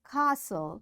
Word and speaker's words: castle: Fasten, castle or castle, often, whistle, soften, hasten, bustle, and gourmet. There are different words, but in all these words, T is silent.